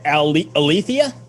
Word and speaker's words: Aletheia: explain it to anybody listening um is that aletheia is that how i'm pronouncing it yes okay so alethia is a double movement of light and darkness